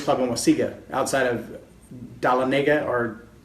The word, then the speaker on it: Dahlonega: at the 4-H club in Waseega, outside of Dahlonega or Dahlonega, however you want to say it. I heard 4 different pronunciations of that little town, and all of them were for around there.